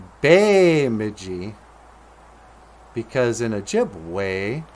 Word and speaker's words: Bemidji: so then it just became Bemidji but it's Bemidji because in a gym way our ease are pronounced with an a sound you know if